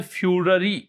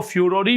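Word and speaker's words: furore: Which led to international फ्यूररी, इसको फ्यूररी भी बोलते हैं, फ्यूरो भी बोलते हैं, दोनों प्रोनाउंसिएशन होते हैं।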